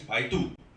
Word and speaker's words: Baidu: And good news is that 3 months ago, anybody do not know Baidu, or in a Caucasian way of pronouncing it, Baidu. You know Baidu? Okay, in Chinese, Baidu.